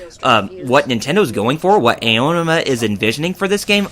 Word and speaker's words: Aonuma: Well, that and the trailer, I believe, how do you pronounce it? Aonuma? Aonuma.